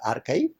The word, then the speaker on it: arXiv: second example is archive it is spelled as arxiv but pronounced as archive that was started in